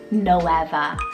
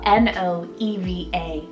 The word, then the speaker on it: Noeva: For N, a newcomer to me and very recently fell in love with the name Noeva, spelled N-O-E-V-A, Noeva.